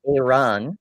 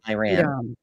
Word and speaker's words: Iran: Uh Theo says it's pronounced Iran, not Iran.